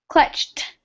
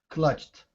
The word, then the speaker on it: clutched: some words um because the e d and English is pronounced three different ways so sometimes like in this word clutched it ends in a t sound clutched clutched okay perfect perfect okay